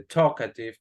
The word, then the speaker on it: talkative: Dense cuenta como la L de talkative no se pronuncia. No decimos talkative, no, talkative.